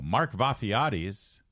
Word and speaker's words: Vafiades: much Fairfax County and he joins us now Mark vafiatis thanks for being here hey I want to thank you you guys pronounced my name perfectly thank you surely you